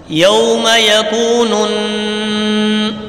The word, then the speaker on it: يوم يكون: یوم یکون، غنہ ہوگا یہاں پہ، نون سے مل رہا ہے، اس پر غنہ کریں گے.